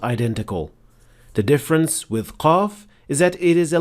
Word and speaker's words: qaf: mistake that is usually made by beginners is producing qaf way deeper than it should be. This happens when you try to exaggerate the sound, so it becomes way heavier and more difficult to pronounce than it should. And the mistakes sound like this. Qa, qa, qalu. This is also detected when you hear a hint of kha or ghain along with the sound of qaf.